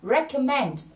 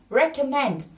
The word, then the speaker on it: recommend: là đề xuất là recommend. Từ này trọng âm rơi vào âm tiết số 3 nhé. Say it again, recommend.